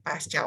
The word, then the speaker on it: pasca: Oh, boleh cek di Kamus Besar Bahasa Indonesia, bahwa tulisannya pasca operasi berarti disatuin pasca operasi. Satu kalimat Baik, Dok. pakai C. Bacanya juga C.